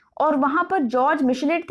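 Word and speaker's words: Michelet: तो अगर आपके ऑब्जेक्टिव क्वेश्चंस आते हैं तो यू मस्ट रिमेंबर कि ये हैं आपके जॉर्ज मिशेलेट, टी साइलेंट रहता है प्रोनाउंसिएशन में, और दूसरे हैं आपके फ्रेडरिच एंजल्स।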